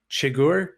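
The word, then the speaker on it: Chigurh: is anton i think his last name is pronounced chagor c-h-i-g-u-r-h he's from no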